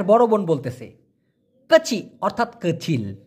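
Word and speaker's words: kecil: বোন বলতেছে কাচি অর্থাৎ কচিল এখানে একটা জিনিস আপনাদেরকে আমি দেখাই মূলত কই সি আই এল এটাই হচ্ছে সঠিক উচ্চারণ তবে এটাকে অনেকে বলে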